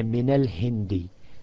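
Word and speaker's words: مِنَ الهِنْدِ: You cannot pronounce two sukuns together, so therefore, the min, you just put a fatha for pronunciation only. It has nothing to do with grammar, only to do with pronunciation, because otherwise you would not have been able to pronounce two sukuns together. So you say, instead of min, and the other word, l-hind, you cannot pronounce the lam with sukun, so you say min al-hindi.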